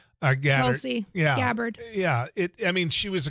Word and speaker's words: Tulsi: I mean, is that how you pronounce her first name? Tulsi.